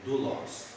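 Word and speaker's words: δοῦλος: Ou doulos. Eu pronuncio mais como em inglês, fonética.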